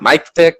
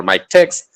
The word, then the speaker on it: MiKTeX: okay miktek or it it is pronounced in various ways it can be pronounced with nick tech it can be pronounced in mic tech or make text or mic text i have i have uh i have heard a lot of different variations so i'll just i'll